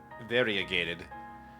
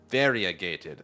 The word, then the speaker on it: variegated: I think I get it, but I just variegated.